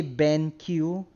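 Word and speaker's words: BenQ: bank i don't know i've always pronounced it bank like the queue becomes a k uh i i do know a lot of people say ben q i think that's actually how most people say it but i don't know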